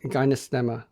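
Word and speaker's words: Gymnema: for them it's called gyma sylvestri say that or maybe spell it for our listeners so the first word is begins like the word gym gymnasium g y MN and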